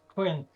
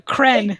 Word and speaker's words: Kren: manifestation of kren uh which is spelled with a silent Q yes Quin no cren with a K gr you can't seem